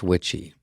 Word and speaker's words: Witchie: His name is Lance Witchie, pronounced like witchy woman.